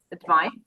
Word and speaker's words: advice: C between the vowels is pronounced like advice, and S between the vowels is pronounced like advise.